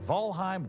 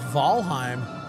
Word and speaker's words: Valheim: Here's a look at Volheim 1.0. Oh, wow. The biggest surprise is that it's pronounced Valheim.